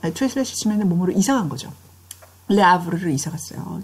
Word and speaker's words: Le Havre: 라브르를 이사 갔어요. 자, 프랑스어에서는 H를 발음 안 해요.